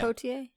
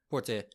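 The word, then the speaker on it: Poitier: Portier. Say yeah. Poier. Portier.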